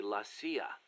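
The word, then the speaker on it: la CIA: So the story goes around here they say lassia instead of CIA. Huh. Um nothing strange about it. That's how it's pronounced when you read it in Spanish.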